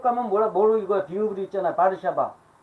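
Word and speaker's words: Warszawa: 바르샤바. 근데 영어로 보고서 영어식으로 미국식으로 쓰면 하려면 와르샤와라고 읽어야 돼. 근데 거기 바르샤바라고 그래.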